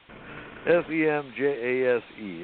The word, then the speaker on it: Semjase: Contacts resumed again beginning January 28th, 1975, with an extraterrestrial woman named Semjase, S-E-M-J-A-S-E. If it's European, the J is pronounced as a Y, so it'll be Semjase, the granddaughter of Svath.